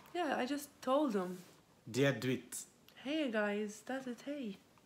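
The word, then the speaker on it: Dia dhuit: Dia duit. Hey guys, that's it. Hey. Dia duit. I say it right though. Dia guit.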